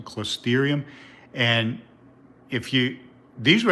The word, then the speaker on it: Closterium: are alive that's algae close therium i believe you pronounce them closterium and if you these